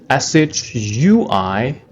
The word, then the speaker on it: 睡: Chinese pinyin, SHUI, 睡. The fourth tone, 睡, it means to sleep, right?